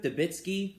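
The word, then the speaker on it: Debicki: her husband dies in it too elizabeth elizabeth dabitsky yes i pronounced her name correctly yes the actress i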